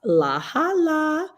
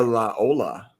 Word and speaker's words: La Jolla: Oh, it is pronounced La Hala, and it's California. There you go. It's in Cali and pronounced La Hala. Okay. Or La Ola.